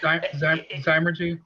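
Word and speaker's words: zymurgy: In that same interview, you mentioned that your style of brewing involved culinary, and I'm going to botch this word, Zimmergy. Am I saying that right? Okay. Zymergy. Zymergy. Thank you.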